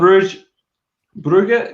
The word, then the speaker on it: Brugge: Club Brugge, is that how you say it? Or Bruges? I say Bruges. Who's Brugge. good? Yeah, it's Brugge. good. Brugge's better. I'll say Brugge.